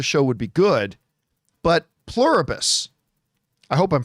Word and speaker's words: Pluribus: But Plurabus, I hope I'm pronouncing that right.